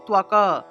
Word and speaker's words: ত্বক: জন্য অন্তস্থ ব্যবহার করব তাহলে ত্বক ত এর নিচে বফলা তাহলে ত্বক উচ্চারণ ত্বকের উচ্চারণ হবে তোয়াকা তুয়াকা এই যে ত এর